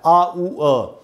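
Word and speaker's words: hour: और इसको हमको कैसे पढ़ना चाहिए, इसमें यही वाला साउंड लगता है आ ऊ अ। तो इसको हम पढ़ेंगे, यहाँ लिखा है उच्चारण आ ऊ अ, और ये र जो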